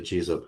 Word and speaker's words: Giza: So we come back to my angles project in in the Giza plateau. The Jiza plateau as it's pronounced in the Arabic.